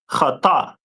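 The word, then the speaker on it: חיטה: The Hebrew word for wheat is pronounced in Hebrew as chata.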